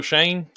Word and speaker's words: Schoen: It's like Shane. Yeah. Like Joe Shane. Yes. Yeah. It's spelled funny. Yeah, it's like SCHOEN, Yeah.